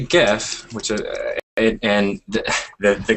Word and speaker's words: GIF: And the dictionary has two pronunciations, GIF and GIF. And the creator says the dictionary is wrong. There's only one way to say it. GIF with a J.